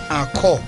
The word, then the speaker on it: Ankò: Enko. A-N-K-O, pronounced as O. Enko.